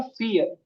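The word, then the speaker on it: vier: आई इ आर आर बट आई के बाद इ आ जाए तो इ का ही साउंड हो जाता है। समझ आई के बाद इ आ जाए तो इ का ही साउंड हो जाता है। और जो वी है ये हमारा फऊ हो जाता है। फऊ एफ का साउंड देता है।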